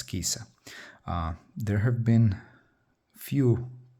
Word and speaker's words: Cisa: Anyways if you read this in Italian it's kisa.